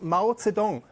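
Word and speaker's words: 毛泽东: That's the writing, this writing is pronounced Mao Zedong.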